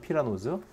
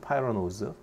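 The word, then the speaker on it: pyranose: 우리나라 말로는 피라노즈, 영어로는 파이라노즈, 우리나라 말로는 프라노즈, 영어로는 프라노즈, F 발음.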